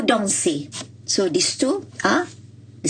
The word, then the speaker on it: dansez: And for words which end with ER and EZ, it is pronounced as A. For example, danser. You have vous dansez.